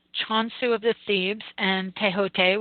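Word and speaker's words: Thoth: Many also in the Greek and Egyptian civilizations include Ibis, Chonsu of the Thebes, and Tehote, which is T-H-O-T-H, but it's pronounced Tehote.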